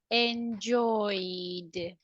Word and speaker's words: enjoyed: you agree foreign it's like a vowel sound every time that you have a vowel sound they are vibrations okay so we are going to say enjoyed enjoyed got it yes yes